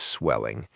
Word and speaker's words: swelling: Don't say S swelling. English words starting with S don't have an E sound at the beginning.